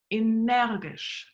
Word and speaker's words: Energisch: Think how it's pronounced in German. Energisch.